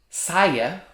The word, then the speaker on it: saia: a lot of shoes there is one word saya skirt and another word which is saiya she